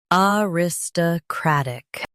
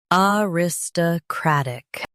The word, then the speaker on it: aristocratic: Aristocratic. Uh ris- t- crat-ic. Aristocratic. US stress crat. UK stress rat.